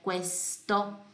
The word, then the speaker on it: questo: Lembra que Q, U é cu, e eu pronuncio sempre o U, certo? Nunca ele vai desaparecer, então é questo.